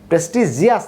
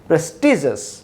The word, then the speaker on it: prestigious: যেমন ambitious, suspicious, prestigious, prestigious না কিন্তু হবে কি prestigious prestigious।